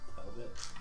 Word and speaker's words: Talbot: Is that how you pronounce Talbot, Mr. Talbot Estes. it? Talbot.